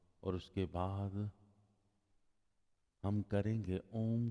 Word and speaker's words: ओम: जब आप ओम का उच्चारण करेंगे, तीन हिस्सों में करना है। ओ, इसकी हमिंग आपके लंग्स में होनी चाहिए, आपके सीने में होनी चाहिए। अंग, इसकी हमिंग आपके कंठ में होनी चाहिए। और म, इसकी हमिंग आपके सर के मध्य होनी चाहिए।